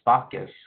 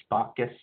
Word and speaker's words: spoccus: And I think in our last class we did an eagle design too, a spoccus. That's how you pronounce it in our Halkomelem language, spoccus.